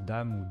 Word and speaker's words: dam: d'après dans des am ça se prononce dame denses c'est-à-dire préjudice au